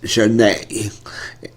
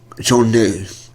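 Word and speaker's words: Zhané: So without no further ado, this is Zhane, La La La, off the album pronounced Zhane. Zhane.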